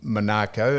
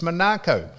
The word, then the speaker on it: Monaco: the official ambassador or in a position in Monaco, and I said, "How do you pronounce he said, "It's Monaco.